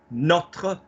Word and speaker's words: notre: Notre, like a not. Yeah, like I am not coming, or a not.